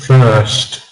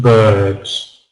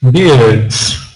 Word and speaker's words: first: We've got the sound, first, birds, first bird. Before this, I was hearing things like first, beards. Very often, Polish students will pronounce every letter in the word, every single letter. Not birds, first, beards, beards, with a r sound.